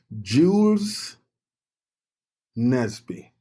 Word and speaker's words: Jules Nesby: Jules Nesby.